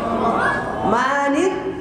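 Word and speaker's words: الرحمٰنِ: অনেকে আর রহমানের পড়ি যখন দেখবেন জের হবে তখন শিখাতে পড়বেন রহমানের না রহমানির কি পড়বেন রহমান আর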